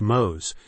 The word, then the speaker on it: Mose: Menendez is most famous for his role in establishing and leading Fort Mose, pronounced Mose, the first legally sanctioned free black settlement in what is now the United States.